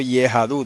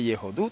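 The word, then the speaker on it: יהדות: se diga en hebreo yahadut no se dice yahadut entonces Okay eso se lee yahadut con una vocal pataj bajo la yod y otra pataj bajo la d no se dice yehud como debería ser si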